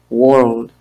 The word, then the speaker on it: world: Aquí tenemos la palabra mundo, world, tres vocales, tres consonantes juntas, la R, la L y la D, world. Pero tenemos que pronunciarla sin hacer mucho énfasis porque suena muy difícil de entender. Entonces, la R, recuerden que en inglés la R es suave, worldwide, worldwide, que es en el mundo entero.